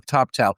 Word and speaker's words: Toptal: T as in Tom, O, P as in Peter, T as in Tom, A-L, Toptal.